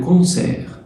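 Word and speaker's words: concert: ان كونسير، كونسير، كونسير التي ما بتتنطقش يعني حفلة، وحفلة موسيقية كمان.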